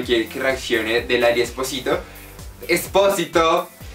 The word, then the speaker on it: Espósito: lo pronuncio mal, pero para mí es Esposito y ustedes me dicen que es como Espósito.